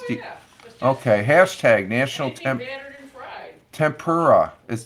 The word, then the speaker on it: tempura: okay hashtag National Temple tempura is did I say it right tempura yeah temper a day uh